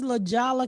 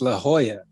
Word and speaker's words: La Jolla: he died in la jala california what the is la jala california it's la jolla oh yeah what the